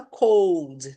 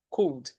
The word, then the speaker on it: could: A gente não fala cold, tudo bem? Cold é outra palavra que significa frio. Aqui é cold, então atenção à pronúncia cool.